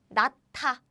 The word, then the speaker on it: 낳다: And what happens is it becomes 짠, aspirated version. So how we pronounce is like this. 낳다, to give birth.